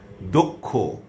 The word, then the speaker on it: দক্ষ: এবারে আসুন শেষে বা মধ্যে যদি বসে, শেষে বসলে যেমন বক্ষ, কক্ষ, ক খ এর মতো উচ্চারণ হচ্ছে ক্ষীয়টা। দক্ষ, রক্ষা। আবার মধ্যে বসলে অক্ষত, অক্ষত।